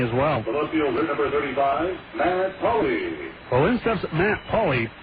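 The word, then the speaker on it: Pali: welli number 35 Matt Paulie well in steps Matt Paulie Paulie spells his name p a l i but is pronounced Paulie he's the left fielder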